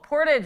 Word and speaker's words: Portage: Oh, Portage is how you say it.